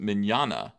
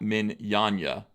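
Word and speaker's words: Mignola: TLJ Screwjob says also it's pronounced Mignana. Not Minyanya. What did I say? I usually say Minyana.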